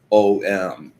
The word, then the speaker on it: Om: illustration I showed you, M is most often um presented as OM. But the truth of the matter is its original soundsscape were three syllables, an A, a U, and an M.